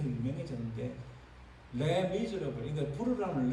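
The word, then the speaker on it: Les Misérables: 이거 뮤지컬 만들어서 뮤지컬이 더 유명해졌는데, 레 미즈러블. 이거 부르라면 레 미즈러블 이렇게. 레가 정관사고, 미즈러블이 형용사고. 그러니까 불쌍한 사람 이렇게. 우리는 흔히 레미제러블 이렇게 발음하는데 실제로 레미제러블, 이 영어하고 비슷한 단어죠.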